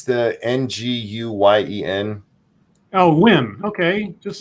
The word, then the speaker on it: Nguyen: Oh, Wynn.